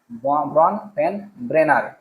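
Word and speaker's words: Bronfenbrenner: দিয়েছেন কিন্তু ব্রনফেন ব্রেনার কে দিয়েছেন ব্রন ফেন ব্রনফেন ব্রেনার উচ্চারণটা করবে একটু তারপরে 22 নম্বর দেখো শিক্ষকের কাজ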